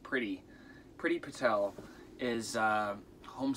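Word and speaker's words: Priti: name of pretty patel i think it's pronounced pretty pretty patel is a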